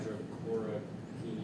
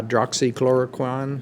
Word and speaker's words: hydroxychloroquine: Is that the excuse me if I would say it right, hydrochloroquine or? Hydroxychloroquine.